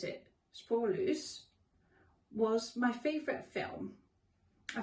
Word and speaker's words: Spoorloos: When I wrote this list, a Dutch film called Spoorloos, I pronounce it Spoorloos, was my favourite film.